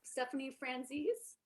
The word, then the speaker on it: Stephanie Franzese: in we have let me know if i'm pronouncing your name correct um stephanie franzis you got it you got it okay and